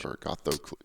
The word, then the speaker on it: Agathocles: How can you connect members of Agathocles, Agothercles? I believe it's Yeah. ATH, isn't it? Oh, hold on. gosh. Agathocles.